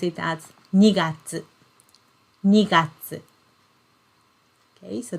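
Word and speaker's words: 二月: And we pronounce it as 2月.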